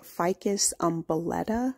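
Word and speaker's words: Ficus umbellata: guys here it is a ficus umbrelletta I believe that's how you say it u m b e l l a t a and like I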